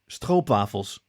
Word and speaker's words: stroopwafels: Okay, so the Dutch pronunciation is stroopwafels, but they have the r, and it's stroopwafels.